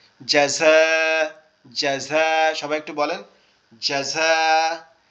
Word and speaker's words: جزاء: জাযা, এই দেখেন এখানে উচ্চারণ সুন্দর করার জন্য আগে অক্ষরের বুঝতে হবে, জিমটা শক্ত আওয়াজ হবে দাঁতের পাটি একসাথে চেপে, তারপরে ঝাটা হবে জিহ্বার আগা নিচের দাঁত থেকে। জাযা, জাযা, সবাই একটু বলেন,